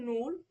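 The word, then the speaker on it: null: বলি এখানে টু বলি কিন্তু ওদের এই শূন্যটাকে কি বলে নূল অন টাকে বলে আইনস টু টাকে বলে হচ্ছে সোয়াই মানে এরকম উচ্চারণগত ওদের পার্থক্য আছে আচ্ছা তো কিন্তু এটা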